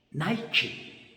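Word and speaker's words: Νίκη: 영어 발음으로는 나이키, 그리스 발음으로는 니케.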